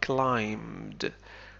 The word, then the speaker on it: climbed: Climb. حرف ب لا ينطق. نقول climbed.